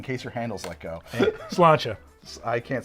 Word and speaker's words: sláinte: Sláinte. I can't say that. I don't know. Sláinte? Sláinte. Sláinte. I always pronounced it slanty. Because I read it as it's written, but it's sláinte, and I don't know Irish people other than you.